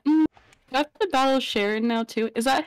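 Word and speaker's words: Cheren: Do I have to battle Sharon now too? Is that how you say his name? Yeah, yeah. Sharon.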